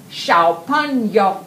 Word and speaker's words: 小朋友: Can you help me with my pronunciation? 小朋友. 小朋友.